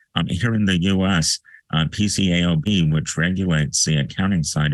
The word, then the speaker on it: PCAOB: body is called the pcaob the public Company accounting oversight board affectionately known for the pronunciation of their acronym as peekaboo pcaob is that a